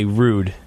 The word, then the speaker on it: Roode: you know it's it's hard vol B why rude but yeah normally spell it Bo BBY what did you say the